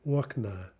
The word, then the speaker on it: окна: Okay, so for two-syllable neuters, we expect in the nominative plural the stress to jump to the opposite syllable. Remember this? So окно in the plural becomes окна. Море becomes моря.